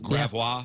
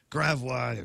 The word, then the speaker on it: Gravois: Like Gravois. Yeah. Gravois, Gravois.